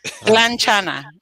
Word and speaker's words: Tlanchana: Tlanchana. So say one more time. Tlanchana. Tlanchana. Yeah, it's like Tlanca. Yeah.